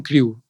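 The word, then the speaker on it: Krewe: la del orfeos Crew todos son Crew y se escribe crewe con con k y wv y no sé por qué se pronuncia Crew porque decir es un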